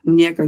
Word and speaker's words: Muñeca: Muñeca? Yeah. Am I pronouncing it right? Muñeca, you right.